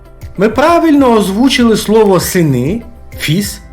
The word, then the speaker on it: fils: клафіс Ілля твафіс ми правильно озвучили слово сини фіз і у нас вийшла фраза У нього є